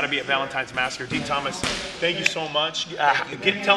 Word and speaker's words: Din Thomas: You can just type my name in, Dean Thomas. That's spelled DINTHOMAS.